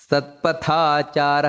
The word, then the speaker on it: ಸತ್ಪಥಾಚಾರ: ರೀತಿ ಊರ್ಧ್ವಗ ಮಹಾಪ್ರಾಣ ಮತ್ತೆ ಸತ್ಪಥಾಚಾರ ಪಥ ತ ಅನ್ನೋದು ಮಹಾಪ್ರಾಣ ಪ್ರಾಣದ ಪ್ರಾಣವ ಪಣಹ ನೋಡಿ